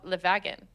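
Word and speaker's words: Le Wagon: world in London, and it's called Levagan, but it's spelled with a W.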